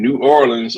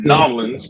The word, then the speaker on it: New Orleans: I remember when I first met you, and this was at the SHRM 2022 SHRM-22 conference in New Orleans or in Nolans, depending on, how you say it.